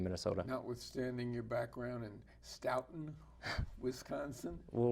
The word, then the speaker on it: Stoughton: Notwithstanding your background in Stoughton, Wisconsin? Well, we're a Norwegian community, so it's a hard O. So I know it's Stoughton, Wisconsin, if you will.